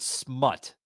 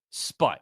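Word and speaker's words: Spunt: Well, a Fox News correspondent, David Smut, or Sput. How the fuck do you say his name, Shaky? Sput. Okay, Sput. Provides the latest insight into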